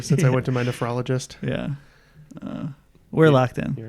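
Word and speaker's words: nephrologist: o l o g i s t NE nefrologist man I've heard this so many times it's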